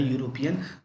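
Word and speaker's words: European: यहाँ पे आप देखेंगे आपका शुरू तो हो रहा है वॉवल से, ई से, लेकिन जो इसका साउंड है, जो पहला साउंड है वो वाई का दे रहा है। अगर आप इसको स्पेलिंग इसकी जो है यूरोपियन, आप क्या बोलते हैं इसको, यू, उसके बाद फिर आप बोलते हैं रूपियन। तो साउंड आपका वाई का आता है, पहला लेटर आपका वॉवेल है लेकिन साउंड आपका वाई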